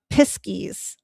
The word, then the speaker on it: piskies: Uh, piskies, I believe, is how they say it in Cornwall.